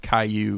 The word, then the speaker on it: Caillou: so but haiku kallu snail but it's cash pronounced Caillou I didn't know that it's just like Dora's